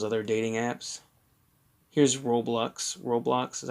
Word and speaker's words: Roblox: Roblox is how you pronounce that word.